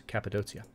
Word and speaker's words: Cappadocia: And then finally, there's Cappadocia. Hey, a merchant. Very good. 10% from commercial buildings. That hard C in Cappadocia is making me mispronounce things.